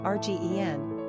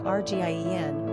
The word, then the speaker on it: Regina: In the United States, Regina is usually pronounced Rgen, as opposed to Rgien, which happens to rhyme with a female body part.